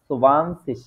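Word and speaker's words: zwanzig: সেন ঠিক আছে তারপরে যেটা আছে সেটা হচ্ছে সুবান্সিস এইখানে যদি আমি আপনাদেরকে একটা প্লাস চিহ্ন দিয়ে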